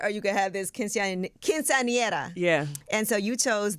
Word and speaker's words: quinceañera: Quinceañera. I'm trying to pronounce this right. Quinceañera. Yeah.